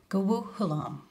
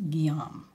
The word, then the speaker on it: Guillaume: Your Uncle who? Guhu Hulam. It was actually pronounced Guillaume.